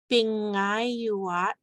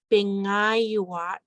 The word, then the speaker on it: pingayuat: Wednesday is pingayuat. We have the special N with the tail, so we know that it's pronounced like NG.